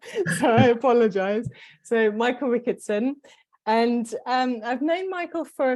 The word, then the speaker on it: Rickatson: Yeah, it's Rickatson. I mean, it's not that difficult. So I apologize. So Michael Rickatson.